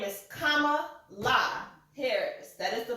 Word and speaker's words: Kamala: It's Kamala because it's Indian.